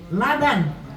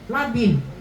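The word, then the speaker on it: لبن: sampai salah baca ya Laban susu Ibu BAC bacanya Salah labin artinya misisan gitu ya Ada seorang anaki nyiramin kuburan orang tuanya pakai susu diteg kok disiramin pakai susu terus si hari besok lagi pakai susu terus I kan suruh nyiramin kuburan orang tuanya dengan Laban Salah bacanya tu labin bukan Labang jadi dia bacanya labanb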